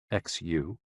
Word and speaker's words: xu: The 6 sounds are XU, pronounced like shh, with a deep sigh, which is associated with the liver.